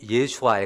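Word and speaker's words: ישוע: 죄에서 구원할 자이심이라 하니라 예수 히브리 식으로 발음하면 여호수아 예수아 가까워요 여호와는 구원이시다 뜻이에요 어이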